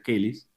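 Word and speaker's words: Chelys: ellis en algún lugar se escribe chelís pero se pronuncia que ellis eso hace referencia a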